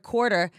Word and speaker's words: quarter: Like, I was taught that the word quarter is water with a Q.